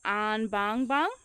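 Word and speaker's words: Anbangbang: you say it the lower area is called an Bang Bang so is having the enunciation yeah I really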